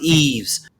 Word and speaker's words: Yves: Yeah, well, his is YVES. It's actually pronounced Eves, right?